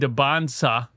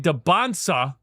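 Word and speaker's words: Dybantsa: AJ Debansa, I said it right. I said it right. AJ Debansa and Darren Peterson um both seem to think they're going number one overall.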